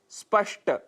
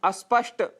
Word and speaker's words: स्पष्ट: शब्द है स्पष्ट, जिसकी जगह हम अस्पष्ट यह उच्चारण कर बैठते हैं।